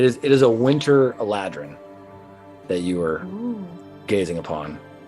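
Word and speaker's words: Eladrin: would probably know that this is a elderin that's how you say it it's a winter life it is it is a winter aladrin that you were gazing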